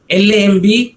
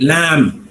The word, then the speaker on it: lamb: pronounce it as honest lamb the b is mutant right lamb t omb is p